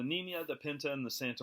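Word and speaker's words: Niña: nerds for you to get the pronunciation of Nina right it's got one of those squiggly lines over the EM so what are you gonna do so the knee Mia the Pinta and the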